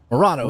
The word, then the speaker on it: Moreno: As we look at the grid, we got Anthony Moreno. Hope I said it right there. Moreno. Morano, that's right.